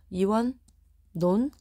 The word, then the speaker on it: 이원론: 이원론 상견래음 이런 것들 동원 어떻게 발음 녕 이원 논 상견네 이렇게 발음된다고 오케이 오케이 그럼 할로는